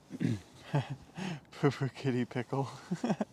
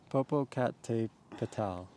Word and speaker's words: Popocatépetl: Popo kitty pickle. Popo kitty pickle. No, Popo that's cat tipeto. just It's way too much fun to mispronounce Popo kitty pickle. Popocatépetl.